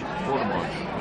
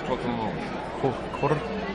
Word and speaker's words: Courtemanche: But most people can't roll their R's. So do it one more time. It's Courtemanche. So roll the R.